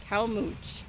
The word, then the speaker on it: Calmoutier: We here kind of mush that together and just call it Calmouche.